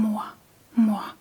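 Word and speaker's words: mormor: So whenever the R is placed at the end of the word, it usually comes after a vowel and it gives the very soft throat sound.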